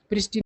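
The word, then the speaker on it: pristine: और चौथा है प्रिस्टाइन प्रिस्टन बोला जाता है प्रिस्टाइन नहीं तो देखिए लप्स मतलब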